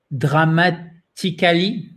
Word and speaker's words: dramatically: So the stress is on the second syllable, guys.